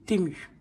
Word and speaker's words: Temu: qui existe depuis 2022 il y a plusieurs prononciations alors moi j'ai demander comment comment il voulait qu'on le dise la personne m'a dit on dit tumu donc TMU voilà donc